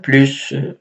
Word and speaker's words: plus: les habitants une remarque devant un adjectif ou bien un adverbe on ne prononce pas le S par exemple plus doux plus jeune mais